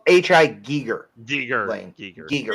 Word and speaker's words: Giger: Giger.